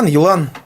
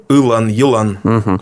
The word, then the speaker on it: Елан: Как правильно его произносить по-башкирски? Елан. Вот. Ну, там первое получается, вот если по звуку, по-русски, и краткое, да? Если по-башкирски, то Елан.